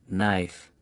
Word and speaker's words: knife: But in most cases the k is silent and only the n is pronounced. Common k words knee, knife, knock, no, not knit.